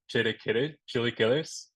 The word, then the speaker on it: chilaquiles: So I might have answered this a little prematurely, but I'd love to open by saying that the charged up chilaquiles, correct my pronunciation, No, you got it.